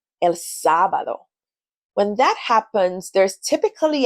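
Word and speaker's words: sábado: You'll notice that there's an emphasis on the first syllable, sabado.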